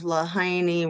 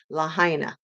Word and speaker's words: Lahaina: to if the people of lahaini were incinerated um and I said it wrong Lahaina so um there are